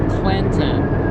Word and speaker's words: Clinton: it's with an n there's an n in there clinton hillary clinton now